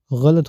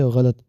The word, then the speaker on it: غلط: درست تلفظ مرغی نہیں، مرغی ہے، اور یہ غلط نہیں ہوتا، غلط ہوتا ہے، غین سے غلط۔ مگر پھپھو، اس سے فرق کیا پڑتا ہے؟